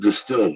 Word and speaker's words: DSTLD: or look terrible dstld D pronounced distilled offers luxury denim at